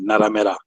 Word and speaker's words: Narmer: Amharic language of Ethiopia, where they pronounce it Naramera. So Naramera, so Naramera is how they say their language, and I forget the meaning.